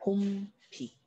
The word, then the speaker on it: 봄비: 자, 예를 들어서 자, 봄비 발음은 봄비가 되죠. 자, 봄이라고 하는 시간과 연결이 되어 있기 때문에 된소리 대기가 일어납니다.